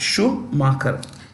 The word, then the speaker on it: Schumacher: Schumacher.